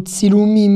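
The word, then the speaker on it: צילומים: Vous avez entendu, c'est entre le T, enfin c'est un T et un S consécutif. Ts, ts.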